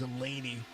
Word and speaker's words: Zalesny: Zalesny. Well, I didn't know that. I had a teacher whenever I was in college. His last name was spelled the same, and it was Zelaney.